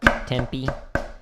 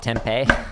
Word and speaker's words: Tempe: Tempe. Some people call it tempeh.